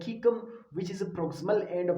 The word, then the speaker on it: cecum: ठीक है, आप किसी भी तरह प्रोनाउंस कर सकते हैं, लेकिन जो बेहतर प्रोनाउंसिएशन है इस वर्ड का वो कीकम है। ठीक है, attached to the